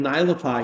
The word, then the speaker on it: Naelapaa: I said it right. Anyway, it's not that hard of a name once you know it, right? That's right. Go by how it's spelled.